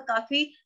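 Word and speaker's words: calf: काफ, काफ में भी एल की साउंड नहीं आ रही तो हम इसको अंडरलाइन कर देंगे।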